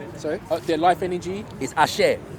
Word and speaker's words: Ashe: Their life energy is Ashe. Ashe.